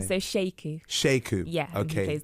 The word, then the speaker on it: Sheku: How do you pronounce his name? So Sheku.